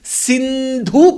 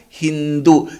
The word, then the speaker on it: Sindhu: The unfortunate part is they could not pronounce Sindhu properly. They pronounce Sindhu as Hindu. Sa were difficult, therefore wherever sa come, they replaced it with ha, and therefore people near the Hindu river became the way of communication there.